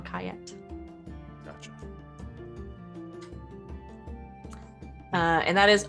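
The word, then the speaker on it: Ankhayat: uh but it's spelled a n k h a y a t on cayet gotcha uh and that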